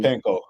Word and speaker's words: Ostapenko: So, for those of you who may not be aware, what was I can't pronounce her opponent's Jelena last name. Ostapenko.